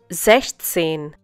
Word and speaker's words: sechzehn: Sechzehn. Once again, sechzehn. Well, in this case, you do bring sechs and zehn together, but sechs is used without s. This is to make the pronunciation easier.